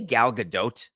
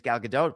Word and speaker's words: Gadot: was the announcer incredible did he say galgadot yes do I have her last name wrong no no you're right gal gdau is correct and he screwed it up